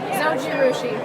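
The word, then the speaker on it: Zojirushi: And finally, how do you pronounce the name? Zojiouchi. Say again. Zoji Rushi.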